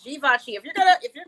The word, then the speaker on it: Givenchy: it da vinci i know everybody tries to pronounce the g vinshee but it's givenchy if you're gonna if you're gonna pay 650